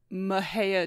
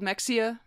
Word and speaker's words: Mexia: twist would you like to do a quick pronunciation I would like to issue my sincere apologies to the residents of mejia Texas childhood briefly childhood home of teenage home